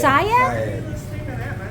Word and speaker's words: Seiad: Oh, it's Seiad?